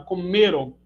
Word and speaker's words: comeram: Entretanto, a primeira é oxítona, comerão, e a segunda é paroxítona, comeram.